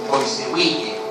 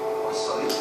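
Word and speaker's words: Poiseuille: Uno de los determinantes del flujo está regido por una ley que se denomina ley de Boissewille. Es francés, no se pronuncia Poisson. No Poisson, Poisson.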